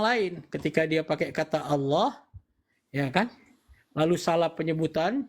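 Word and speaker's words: الله: alif Allah Allah itu ketika lamnya ada dua dan ada tanda tasdik maka lidah kita diletakkan ke langit-langit sebelah tengah Allah gitu cara pengucapannya ya bukan Allah Allah bukan itu hanya faktor dialek di daerah-daerah tertentu yang tidak mampu melafazkannya sesuai dengan makhrajal huruf nah persoalan itu muncul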